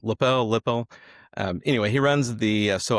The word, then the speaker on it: Lippel: Lippel.